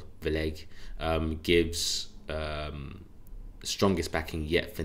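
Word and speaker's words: Vlieghe: So BOE's, I think you pronounce it Vleg, gives strongest backing yet for negative rates.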